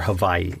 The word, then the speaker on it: Hawaii: So I flew to the Big Island, or the island of Hawaii, or Hawaii, as it's actually properly pronounced.